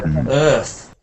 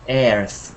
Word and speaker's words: Earth: thir third aens aens Earth Earth yeah that one Earth is sometimes people don't know the bird sound and they do a chair sound like ath but I heard some